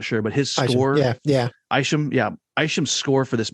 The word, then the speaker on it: Isham: Mark, I think I'm saying it right, Mark Isham, or is it Esham? I'm not sure, but his score. Yeah. Isham, yeah.